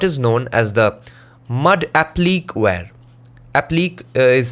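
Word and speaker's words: appliqué: one is what is known as the mud applic is spelled as a-p-p-l-i-q-u-e in this case the pots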